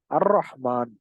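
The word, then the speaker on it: الرحمن: அர் ரஹ்மான் லாம் இருக்கு. ஆனா அந்த லாம நம்ம படிக்கல.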